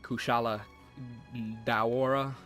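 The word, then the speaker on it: Kushala Daora: Elder Dragons probably like ku shala de aura is what they pronounce it like and then Telstra and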